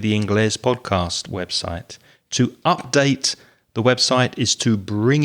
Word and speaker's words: update: might be right yep another word that has changing stress with verb and noun uses update or update is the verb so using the verb